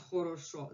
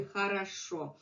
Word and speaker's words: хорошо: And if you go west, they would say O. They would pronounce хорошо. They would pronounce хорошо. But norm over Russian language would be хорошо. We reduce this O to A, this O to A, and only one that is stressed is going to remain O.